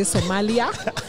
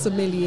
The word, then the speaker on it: sommelier: There's some media interviews that have been done when people say Somalia. If that makes you remember, it's fine. But the word is sommelier.